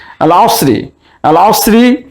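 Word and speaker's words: العصر: আল আসরি এর আলিফ লামের লাম উচ্চারণ হচ্ছে, তাই এটিকে আমরা বলতে পারি আল হুরুফুল কামারিয়া।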